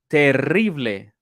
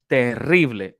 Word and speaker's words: terrible: Okay, let me see if you can roll your R. Your R. Terrible, terrible. Oh, I feel awful. Me siento terrible. No, terrible. Terrible. But it doesn't, I mean, if you cannot roll your R, it doesn't mean you are saying it bad. No, not at all. You just that's one way for us to identify you are not a native Spanish speaker because most of